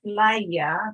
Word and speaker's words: playa: Or playa has only 2 syllables. Okay, our emphasis is the second to last syllable, playa.